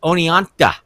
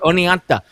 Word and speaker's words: Oneonta: kind of like what we did in in Oneonta did I say it right nice that was perfect oh there we go I got it Oneonta you know a great big building really hasn't